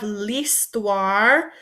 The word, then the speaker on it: l'histoire: history in English, but remember when we have an H, that H is silent. So instead of saying histoire and making that H sound, that H sound, we take that H out kind of, and it just becomes like L''I. So l'histoire. So say this word for me a couple times.